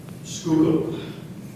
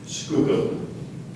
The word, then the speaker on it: skookum: Skookum. Skookum. Are there any alternate pronunciations? Just the one. Would you repeat the word, please? Skookum.